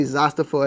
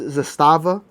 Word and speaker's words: Zastava: And forgive me if I say Zastapo at all, but is it it is Zastava, the correct way to pronunciate it.